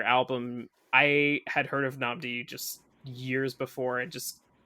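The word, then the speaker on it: Nnamdi: How do you pronounce his name? Namdi.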